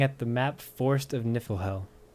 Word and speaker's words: Niflhel: the map forest of niflhell i think it's pronounced niflhell like the norse god of niflheim so there's your trivia